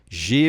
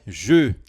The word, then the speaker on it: j'ai: J'ai mangé. Perceba que a pronúncia não é je, é j'ai.